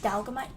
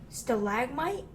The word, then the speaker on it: stalagmite: to mention this but if you want likes talgamite how you pronounce I can never pronounce anything right what's